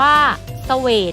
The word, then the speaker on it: เศวต: ฝรั่ง อ่าน ว่า ฝรั่ง เศวต อ่าน ว่า สวท อาร์สยาม อ่าน ว่า สยาม